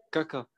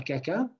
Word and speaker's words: kaka: Pour le Kaka, il faut... Voilà. Pour que ça ne ressemble pas à caca, de toute façon, on ne le prononce pas comme ça, je vous l'ai donné juste pour un moyen mnémotechnique, ok? Il faut l'allonger un peu.